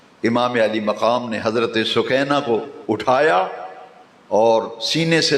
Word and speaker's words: سکینہ: تو امام علی مقام گھوڑے سے نیچے اتر کے دیکھا تو ننھی سکینہ، اصل اس کا پروننسیشن اور تلفظ ہے سکینہ، مشہور سکینہ ہے، حضرت سکینہ گھوڑے کی اگلی دونوں سموں کو ننھے دونوں بازوں میں لیے ہوئی ہیں.